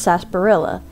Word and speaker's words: Sarsaparilla: And isn't it weird how it's spelled like Sarsaparilla? But I've always heard it pronounced Sarsaparilla.